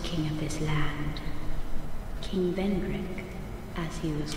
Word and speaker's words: Vendrick: he visit vandrak okay vendrick rhymes with schmendrick we have no need